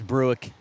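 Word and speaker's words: Brueck: I hope that's the right pronunciation. I believe it is. B R U E C K I don't know how else you could say it. Bre a silent U as Ann can't convert on the back hand.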